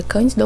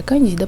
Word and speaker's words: Candida: Não sei se pronuncia Cândida ou Candida, mas acredito que é Candida, porque não tem acento.